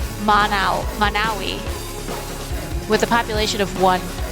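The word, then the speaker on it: Monowi: Manawi with a population of one.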